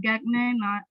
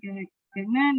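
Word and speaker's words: Gagné: Well, actually, there is another one called Bloom and Gagne, if I'm not mistaken, that's how we pronounce it, Gagne 9 events that is usually used by teachers at school to make their lesson plan.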